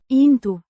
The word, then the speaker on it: în: Its presence here suggests the speaker's intent or desire to put their words into practice.